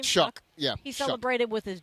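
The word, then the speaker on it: Shough: You guys look at look at Tyler Shuff. Shuck. How do you say his name? Shuck.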